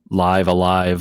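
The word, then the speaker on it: Live A Live: is the collab with live Alive live Alive live alive is how they pronounced it finally finally finally finally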